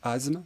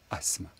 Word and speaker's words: asthme: asthme avoir de l'asthme qu'on entend souvent prononcer asthme mais il faut dire asthme avoir de l'asthme l'asthme